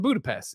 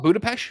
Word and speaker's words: Budapest: It's 20 kilometers or some shit, and also here's a bunch of mail from Budapest."